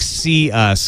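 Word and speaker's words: Cius: you pronounce it yes see ya like see us because it's comment' for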